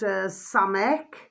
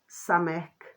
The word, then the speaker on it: Samech: It was called Samek, which is spelt SAMECH. Samek. SAMECH.